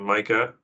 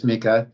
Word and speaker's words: Mika: And then I believe I've heard it pronounced Mika. I might initially assume Micah, but would you like to go? It's Mika.